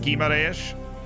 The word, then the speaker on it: Guimarães: It's pronounced Guimarães. Remove the U. Got it. Guimarães.